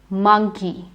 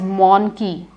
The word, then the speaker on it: monkey: odd one it is monkey because the spelling has an O but you don't say it as monkey monkey is incorrect it's monkey and it does not have an O sound the others are pronounced